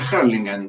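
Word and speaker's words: Hurlingham: yo vivía en la localidad de burlingham que se pronuncia harlingan en el gran Buenos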